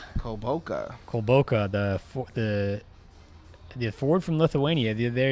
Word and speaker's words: Kulboka: How do you pronounce his name? Kulboka. The forward from Lithuania. There you go. They go with him, Arnaldus Kulboka.